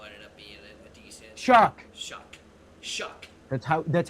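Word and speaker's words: Shough: Shuck. That's how it's pronounced.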